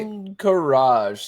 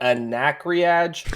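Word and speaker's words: Ahn'Qiraj: It's the Battle of Encourage. Hey, I got it right. Encourage. See, I was like Anacreage.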